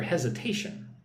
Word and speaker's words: hesitation: I understand your hesitation. Many clients felt the same initially. Right? So, look at the word hesitation. Heation. Hesitation. Put the emphasis on the third syllable. One, two, three.